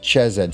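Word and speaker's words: חֶסֶד: Now, on the tree of life, wealth and expansion are governed by the 4th Sephirah, Chesed. Some people pronounce it Chesed, spelled C-H-E-S-E-D, also called Gedula.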